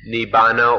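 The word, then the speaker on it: Nibbāna: the supreme thing is nibana or the sanskrit pronunciation is nirvana so everything we've said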